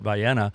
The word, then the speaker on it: Vienna: That's how they say it. Vienna, which is commonly known as Railroad Park.